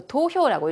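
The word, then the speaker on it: 投票: 투표가 저 도효라고 읽힙니다.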